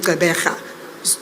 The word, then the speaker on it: Gqeberha: This historic match will take place on Saturday the 12th at the Nelson Mandela Bay Stadium in Gqeberha. Notice that I pronounced that properly, eh?